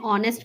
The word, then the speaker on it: honest: A is used before words starting with silent H and gives sound of vowel O, like an honest man, an honorable man.